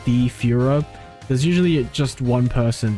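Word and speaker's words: Führer: well it means a tyrannical leader it's pronounced like this apparently Fiora yeah that's a yeah that's the dictionary pronunciation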